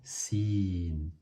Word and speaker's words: س: Ces deux lettres, elles sont faciles à prononcer. C'est le S qu'on connaît en français et le CH, comme le chat.